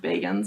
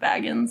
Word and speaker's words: Bagans: But then then we found out his last name's actually pronounced Bagans, not Baggins, so it kind of ruined our...